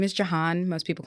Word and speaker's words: Jehanne: I am your host Chris Moses and today sitting with me in the firehouse is we're going to say but I need to get the name right and it's Jan.